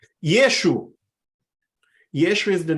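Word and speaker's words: ישו: Yeshu. Yeshu. Yeshu is the name that people usually use to refer to Jesus. What Hebrew word we know that is similar to Yeshu.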